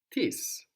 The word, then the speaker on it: τις: But then tis, the plural, is spelled with iota, which is the I sound in Greek that looks like the English I.